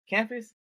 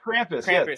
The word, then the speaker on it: Krampus: do you mean campus am I saying it right cernus campus the um like a Santa Claus where he like like ohus Krampus yeah yeah so yeah the